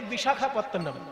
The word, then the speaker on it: বিশাখাপত্তনম: মতন শোনায় আর বিশাখাপত্তম কথাটা হচ্ছে বিশাখ বিশাখা নয় বিশাখ আর বিশাখা আলাদা জিনিস।